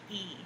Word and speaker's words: Ee: pronounce her name um her last name is actually e e that's it just two e and I'm pretty sure that I've heard it pronounced before and I'm pretty sure it was e so Susan e Angel